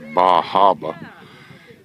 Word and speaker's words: Bar Harbor: very pretty country and the little town of Bar Harbor or as they pronounce it baraba is on this island